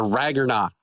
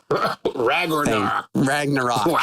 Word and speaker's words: Ragnarok: man for more precisely the rag or not oh now that I can get find that you've butchered that is the rock I know thank you Ragnarok Ragnarok Fraggle rocks are all